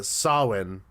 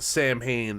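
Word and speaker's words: Samhain: Oh, we 100% did because I I corrected your um your your pronunciation of uh Sawin, which was mispronounced Sam Hayne in the movie Halloween.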